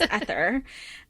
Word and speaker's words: Ether: I want to say Ether because I'm thinking of Legendborn, but it's Ether. Spelled the same way.